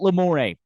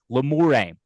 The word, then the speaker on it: Lamoureux: My first instinct, Grant, before knowing how it was correctly pronounced and just glancing it on paper or on a screen, is that it's like Boudreaux or Bro or Robichaud or Thibodeau, the Cajun spelling and pronunciation. Yeah. However, upon further review, it's not spelled E-A-U-X at the end. There's no A there.